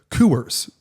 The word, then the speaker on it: Coors: Time to have another Coors. Or as they say in Texas, Coors. The Coors is 2 syllables in Texas.